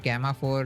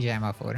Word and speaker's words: Gemma: In my previous videos I used to pronounce it Gamma 4, but I realized it is actually Gemma 4.